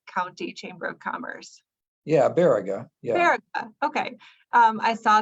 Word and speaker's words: Baraga: Yeah, Baraga.